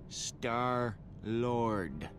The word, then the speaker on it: Star-Lord: the legendary star-lord oh never change Peter it's pronounced star-lord how about a refill my hero hey you